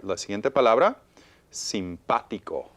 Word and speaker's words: simpático: I hear stress pa. Pa. Simpático. Okay. Y termina en vocal. Termina ends en in a vowel. vocal. So the stress should be we hear it on the A, so it needs an accent.